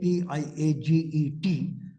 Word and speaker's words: Piaget: Piaget, P-I-A-G-E-T, is pronounced Piaget, is French.